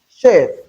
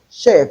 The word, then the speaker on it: chef: of this word is chef chef because in place of ch we have the shh sound this sound.